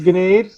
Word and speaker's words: Gnade: It's Gnade. Oh, it is? You do pronounce the G. My apologies. Yeah. Gnade.